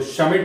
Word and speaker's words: Schmidt: तो शमिट रिएक्शन है SCHMIDT। शमिट में डी साइलेंट है।